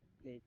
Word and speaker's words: Bleich: का नाम थोड़ा सा अलग टाइप का, मतलब स्पेलिंग है, ऐसे करके है शायद, ब्लेक. ब्लीच, BLEICH I think. हाँ, ब्लेक, राइट.